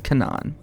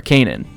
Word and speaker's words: Canaan: Her characteristics are the characteristics of the seasons in Canaan. Or Canaan. That's right, Canaan. That's how you pronounce that.